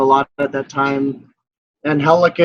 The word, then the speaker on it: Angelica: Angelica is, for those people that know how to say it. People that don't know how to say it say Angie.